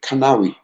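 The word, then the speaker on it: Canaries: we talking about um it's a place called canneries if you if you pronounce it the scent lucian where you'd say canary it's a fishing village right by the sea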